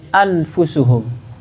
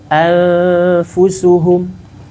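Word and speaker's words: أنفسهم: Kalau dia dibaca izhar, gimana bacanya? Anfusuhum. Itu kalau izhar. Kalau idgham, affusuhum. Maka diambil jalan tengah dari keduanya. Anfusuhum.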